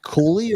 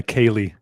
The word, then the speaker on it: Koehli: Is it Kohley or Kohley? Well, the the first was the accurate original pronunciation, but my family goes by Kaylee.